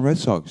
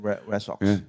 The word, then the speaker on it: Red Sox: Boston Red Sox. Yeah. Red Sox. Yeah. But the spelling is not S-O-C-K-S. It is S-O-X.